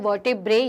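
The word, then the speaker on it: vertebrae: वर्टेब्रे। थोड़ा सा pronunciation इसका आपको अलग अलग जगह अलग मिलेगा, लेकिन अपन इंडियन प्रोनाउंसिएशन में से वर्टिब्रे कहते हैं।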